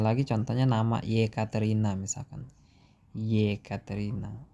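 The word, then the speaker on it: Екатерина: Yekaterina. Itu E depannya, tapi dibacanya Y.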